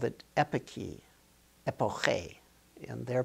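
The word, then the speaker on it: epoché: The ancient Greeks called it epiki, epoche, in their pronunciation, meaning to suspend.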